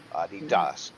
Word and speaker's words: Adidas: Adidas is the proper pronunciation.